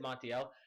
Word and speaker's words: Martial: And guys, here in the 35th minute mark, I decided to make a tactical sub, just to test out Martial, sorry, that's how you pronounce it, Martial.